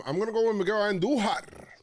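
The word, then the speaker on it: Andújar: I'm going to go with Miguel Andujar. Roll your R's when you say. Only right. It's only right.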